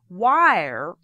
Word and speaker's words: where: the person and goes wire are you going which of course in the u.s. southern accent means where are you going the word where is pronounced wire so if you have